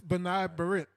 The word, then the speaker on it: B'nai B'rith: Mickey, how do you pronounce that again? That's B'nai B'rith.